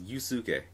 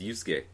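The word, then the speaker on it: Yosuke: longest time longest time I thought it was yuk for Persona 4 it's yusuke what it's like when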